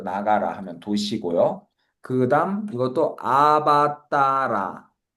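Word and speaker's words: अवतार: 그다음 이것도 아바따라 아바따라 아바따라 따를 좀 더 길게 해 줘야 되겠죠. 원래는 아바따라 하면은 아바가 아래로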